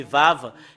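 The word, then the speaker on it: וו: vous voyez ces lettrre c'est vave et le fait de le prononcer c'est V et dans dans certaines traductions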